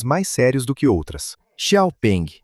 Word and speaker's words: Xiaopeng: Xiaopeng, é assim mesmo que se pronuncia o nome, definitivamente é do tipo mais sério.